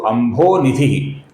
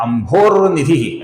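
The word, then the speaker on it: अम्भोनिधि: यहां पर कुछ लोग बीच में र का उच्चारण करते हैं। अर्थात अंभोर निधि ऐसा गलत उच्चारण करते हैं। यहां पर किधर भी अपूर्ण र नहीं है दोस्तों क्योंकि विसर्ग ही नहीं है बीच में।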